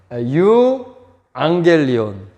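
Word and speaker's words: εὐαγγέλιον: 헬라어를 한글로 써있지만 유 앙겔리온. 그래서 이 감마, 감마가 나오죠. 감마. 알파 다음에 감마가 두 개가 나오면서 발음이 나서 앙겔리온, 그죠? 유앙겔리온.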